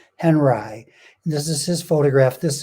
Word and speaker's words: Henri: for this whole thing robert henry that's how he wanted his name pronounced henri this is his photograph